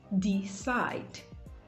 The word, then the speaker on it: decide: Decide, decide, decide. So the stress is placed on the second syllable, side, decide.